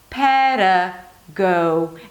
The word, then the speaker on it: pedagogy: Because the D is between two vowels, it's a very light D. Pera. The next syllable is go, as in go away. So you have a G sound and then a long O diphthong. So make sure you start with an open O and then close it to an U, as if there is a W there. Go. Pera, go.